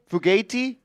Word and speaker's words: Fugate: If you're in the chat, let us Fugati. know what the I think right it's pronunciation is. Yeah, Fugati. When there's the vowel at the end, you usually gotta like kind of.